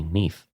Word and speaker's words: Nudd: it is mentioned that Nudd, in Welsh, is pronounced simply Neath, and not otherwise.